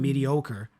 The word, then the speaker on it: mediocre: would like to highlight that word because I love the sound of that word, the pronunciation, Mm-hmm. mediocre.